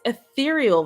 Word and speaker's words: ethereal: my um eal Visions I realize I say that wrong I watched another video and it's ethereal Visions but I've been saying